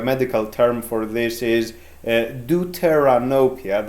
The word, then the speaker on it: deuteranopia: term for this is deuteranopia that's how it is pronounced in english the words are a